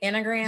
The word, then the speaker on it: Enneagram: Enneagram?